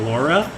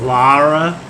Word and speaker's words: Lara: times in that game so that you know it's not Laura its Lara all right let's go